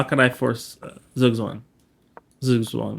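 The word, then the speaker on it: zugzwang: how can I force zwang zwang that's how it's pronounced not zugang zwang how can I force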